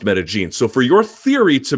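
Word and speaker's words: Medellín: Because I can tell you, if you go to Colombia, where the city is, by the way, it's pronounced Medellin.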